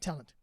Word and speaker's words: tallant: yep which is talent which is spelled tallant t-a-l-a-n-t dot asia i'm so people call me ant i'm not exactly tall it's pronounced talent and spell and in fact it is pronounced talent itself uh um but just not